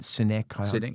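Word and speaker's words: Sinek: book and um um Simon Synk is that how you pronounce it? Synic. Uh sine senk. Yeah.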